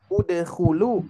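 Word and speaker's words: ادخلوا: Nah, ketika dibaca dhamma apabila huruf ketiganya berharokat dhamma. Dhamma. Udkhulu, usjudu.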